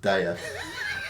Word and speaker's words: Daya: That's obviously another beer by Daya, pronounced Daya.